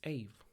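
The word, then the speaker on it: Aave: and admit that I don't know how to pronounce this four-letter word. AVE. It's AVE, okay?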